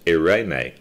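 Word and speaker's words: εἰρήνη: the greek word translated peace is the word irene it is spelled e-i-r-e-n-e pronounced irene it is the most often translated as peace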